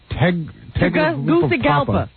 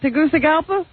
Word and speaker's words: Tegucigalpa: You couldn't even pronounce this on your best day, Howard. What? What? It's Tegucigalpa. Let me see. Is that it? Tegucigalpa?